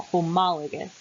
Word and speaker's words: homologous: talk about homologous structures we pronounce this with the emphasis on ma homologous structures so these are